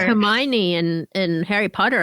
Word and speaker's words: Hermione: It's like Hermione in Harry Potter. A lot of people thought it was could Hermione. not pronounce that until the movies came out.